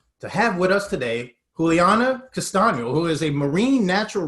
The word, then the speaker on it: Juliana Castaño: pleasure to be with all of you you pronounce very well my name juliana castano how is everything going with you these days